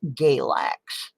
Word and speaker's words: Galax: state of Virginia called Galax. It rhymes with X-lax for good cause.